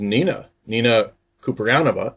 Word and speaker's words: Kouprianova: I have with me, her name is Nina Kouprianova.